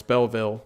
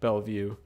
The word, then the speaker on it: Belleville: I keep pronouncing it wrong. It's Belleville, not a Bellevue.